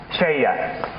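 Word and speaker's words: Selye: Szély.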